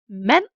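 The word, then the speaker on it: mand: This equals a silent D, which means D is never pronounced after these consonants. An example could be man, a man, kold, cold, or gård, which is a farm.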